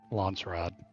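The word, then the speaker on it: Landsraad: really going to need to learn how to pronounce lrod lrad lrad there's no T I keep saying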